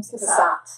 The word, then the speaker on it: Cassatt: Cassatt.